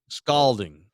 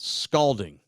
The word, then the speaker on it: scalding: Scalding. Rhymes with Spalding. Not I'm going to scold you, but scald scalding.